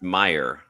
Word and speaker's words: Mayer: I I believe it's pronounced Meyer. Meer, our Boston Red Sox fans told us.